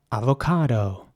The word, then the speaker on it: avocado: Next up, avocado. Avocado is spelled A-V-O-C-A-D-O. And again, just like with apricot, you have to pronounce the C with a K sound.